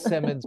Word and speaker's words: Simonds: No, it is Simonds. It is Simonds. But when people ask me, you know, how do I spell it?